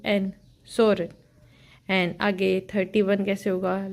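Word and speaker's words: 서른: कैसे लिखते हैं हाउ we write how we pronounce so let's see सो 30 Soren S ई ओ एल एल आर की sound देगा then E यू N Soren 30 I just repeat S ई ओ एल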